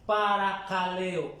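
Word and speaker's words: παρακαλέω: Ahora, lo que sí es exhortar, exhortar en el idioma original se pronuncia paracaleo con K.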